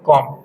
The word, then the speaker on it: comb: अब COMB हम लोग लिखते तो हैं कॉम, लेकिन जब इसका उच्चारण करेंगे तो हम कॉम, बी जो है वो साइलेंट।